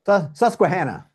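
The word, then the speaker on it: Susquehanna: But when you look at the bigger picture, I think Sescatana, Sescuana, how do you pronounce it? Sescuana, Susuana County, number one or two in the nation for natural gas production.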